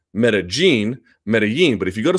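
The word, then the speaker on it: Medellín: one that person says about that double L as a Y as a J, that means Cynthia Calvillo would have to pronounce Medellin.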